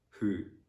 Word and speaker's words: who: let's uh yeah also normally that's letter w is silent if it is followed by h and o so for example in the words who whoever whole whole in this kind